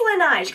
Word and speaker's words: Laneige: I think it's Laneige, kind of like the word beige.